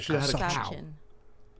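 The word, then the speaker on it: Kawsachun: Causachan. Causachan. Causachan. Like the middle word is like slouch, but without the L. Causachan. Causachan. And it's a cow. You guys should have had a cow. Causachan.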